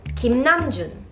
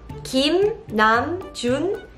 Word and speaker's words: 김남준: And in this video, you are going to learn how to pronounce BTS members' Korean names correctly. Then let's start. The first name is 김남준. 김남준. 김남준.